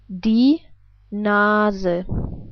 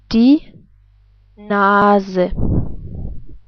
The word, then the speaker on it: Nase: But we pronounce the E different. We pronounce it like, well, as I already told you, like an E, like in 10. Let's put this all together. We would pronounce it like die Nase.